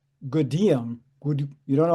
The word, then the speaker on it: Gudim: So if I tell it to you, you would spell it Goodum. That's not right. It's spelled Gudim. So if you see it spelled, you say then Goodium.